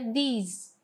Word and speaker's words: these: A diferença é que a primeira é pronunciada como this, com som de E, this, e esse aqui é pronunciado com som de I, que é these.